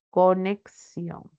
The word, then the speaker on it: conexión: la representación fonológica entonces la palabra conexión Cómo debe de representarse por ejemplo la transcripción fonológica para esa c que tiene sonido sería con esa x pronuncia con dos fonemas ks la x puede representarse por esos dos fonemas conexión enriquecer enriquecer en